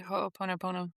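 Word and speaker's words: ho'oponopono: If anyone who's listening, if you're familiar with a Hawaiian practice called I might be pronouncing it incorrectly, but ho pono pono. Yeah, that's right. Ho ponop pono.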